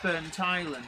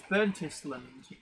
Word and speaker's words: Burntisland: the joke I'm sorry I'm told it is pronounced burn Thailand cuz so I I mistakenly thought it was burntisland but um it's not